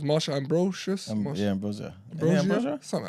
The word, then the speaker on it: Ambrosius: It's Marsha Ambrosius.